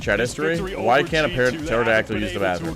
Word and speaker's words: pterodactyl: Why can't a pterodactyl use the bathroom? Because the P is silent.